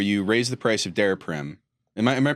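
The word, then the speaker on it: Daraprim: came out where you raised the price of der Prim am I am I pronouncing that right yeah yeah um you raised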